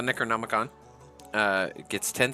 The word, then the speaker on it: Necronomicon: I always want to say Necromicon. But the Necronomicon, it gets 10 spell slots.